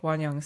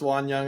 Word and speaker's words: Wonyoung: XOXG if you want to say it like I think Wonyoung says that. It's Wan Young, I think so.